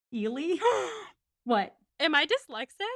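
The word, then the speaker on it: Ehle: were like sorry um it's actually pronounced eely what am i dyslexic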